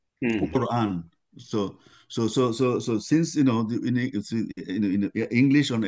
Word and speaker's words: Quran: So Q, like Quran. Quran is also that sound. Quran.